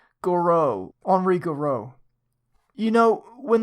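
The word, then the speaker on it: Gouraud: the podcast just cringe every time you say Goud Goud guro or Goro the guy who developed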